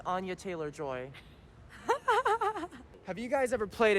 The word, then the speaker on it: Anya Taylor-Joy: Chris Pratt, Anna Taylor-Joy, Seth Rogen, Jack Black as Bowser. I mean, come on. Yeah, all-star cast. How much is that movie gonna cost? I do think it's pronounced Anya Taylor-Joy.